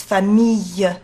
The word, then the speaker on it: famille: Also, another word is famille. You've got to have like a ye, yellow, like in yellow.